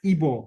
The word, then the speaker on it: Igbo: signaled by its name say the word IBO spelled Igbo which despite its spelling is pronounced in the same way as the unversized rendering of the word included in the name of the community as evoe the ebora West African